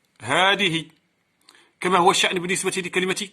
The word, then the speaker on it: هذه: لأن هاء التنبيه إذا دخلت على اسم الإشارة تحذف ألفها رسما وتثبت نطقا. هذه.